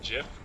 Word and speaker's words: GIF: It's like that badger gif. Oh yeah, that's a good image. That's a GIF. K is for kid. Did you just say GIF? Seriously, like with a J?